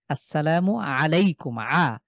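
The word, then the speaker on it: السلام عليكم: জাহিদ ভাই আমরা আসসালামু আলাইকুম যখন বলছি তার এর মধ্যে একটা আইন আছে। তো আইনটাকে আইনের মতনই উচ্চারণ করতে হবে এখন।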